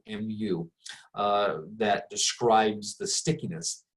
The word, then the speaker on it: mu: Um, but we give a funny looking Greek letter, the Greek letter m pronounced mu, mu, uh, that describes the stickiness.